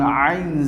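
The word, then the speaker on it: عين: And now we have to pronounce this one Ain Zai. And my dear students, you have to pronounce Ain, the alphabets Ain, from the middle of the throat.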